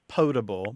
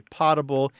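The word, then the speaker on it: potable: huh but again the the better pronunciation is pable but many people do say poble and unless they ask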